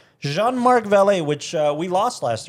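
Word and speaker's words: Jean-Marc Vallée: Val Val Val Val I think it's Val because it's got an accent Jean Mark valet which uh we lost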